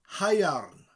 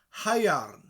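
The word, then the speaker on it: haearn: It is possible that the word first came from the ancient Welsh word hyairn, spelled H-A-E-A-R-N, hyairn, still used today for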